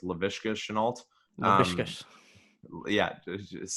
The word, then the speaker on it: Laviska Shenault: I'm pretty sure it's Laviska Shenault. Laviska. Yeah, just say it a few times fast. Laviska Shenault.